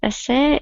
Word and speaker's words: essay: when you write an essay you must know ESS the first syllable is stressed essay essay you must not uh